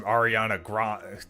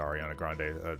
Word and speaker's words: Ariana Grande: like, "Oh, well, that's that's the latest from Ariana Grand." Not that I listened to Ariana Grande. I almost said her name wrong, which proves that I really don't listen